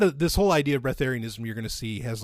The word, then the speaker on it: Breatharianism: And so what this person's asking about is, I think it's pronounced Breatharianism. Okay. Not as in like getting a breath of fresh air, but it's called Breatharianism.